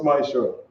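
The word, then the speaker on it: מעשר: It means tenth in Hebrew and is pronounced Ma'asher.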